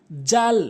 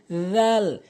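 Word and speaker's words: ذال: এরপরে আসুন জাল ভুল উচ্চারণ, জাল ভুল উচ্চারণ, সঠিক উচ্চারণ হচ্ছে জাল।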